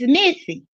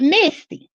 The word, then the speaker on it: Missy: The girl didn't come get no order from her and she said her name is Missy, not Misty.